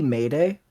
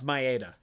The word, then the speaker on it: Maeda: Is his name supposed to be Mayday? No, it's Maeda. It's Maeda.